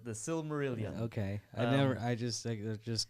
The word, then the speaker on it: Silmarillion: That's how you pronounce that? yeah, that's the Silmarillion.